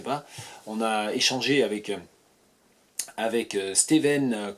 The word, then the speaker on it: Stewen: Ça s'écrit S-T-E-W-E-N, ça se prononce Steven.